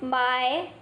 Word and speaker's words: mai: Now we are moving on to the next Pinyin, which is MAI. Has a pronunciation of My.